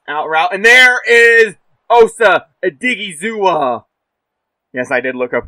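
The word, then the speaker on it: Osa Odighizuwa: least cover this out route and there is Osa digua yes I did look up to how to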